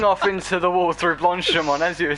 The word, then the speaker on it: Blanchimont: But also, as you said before, if I'm not mistaken when pronouncing it, Blanchimont, right? Blanchimont, yeah, Blanchimont.